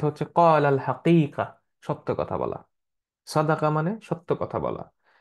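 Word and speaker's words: صادق: ফ্রেন্ডসকাদে সো খেয়াল রেখেন এই উচ্চারণে কিন্তু চেঞ্জ হলে অর্থ চেঞ্জ হয়ে যাবে সাদেক সত্যবাদী সাদিক ফ্রেন্ড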